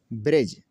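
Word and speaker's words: bridge: बजट में देखें G से पहले D का लफ्ज़ आया, G से पहले D का लफ्ज़ और D क्या हुआ? साइलेंट हुआ। एज किनारा, गरज बैर दुश्मनी, ब्रिज पुल।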